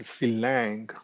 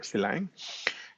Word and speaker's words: Sylang: So the s lang which is for system language of course we can pronounce a slang or silang uh you know however it comes but um you know I prefer silang is a domain specific